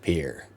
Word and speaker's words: Pierre: Pierre is pronounced Pierre.